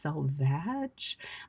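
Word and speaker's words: selvage: are called the salvage, even though it's spelled s e l v a g e. So, we would expect that it was actually pronounced salvage.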